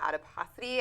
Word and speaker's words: adiposity: had brought up was this idea of abdominal adiposity. I think Correct. that's how you pronounce Correct.